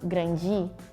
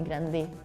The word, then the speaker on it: grande: So like G, chi in the end of the words. So for example, grandi, we don't say grande, or like we usually change the D sound to G.